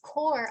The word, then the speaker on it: corps: And in French, it's very common to have silent letters, especially at the end of the word.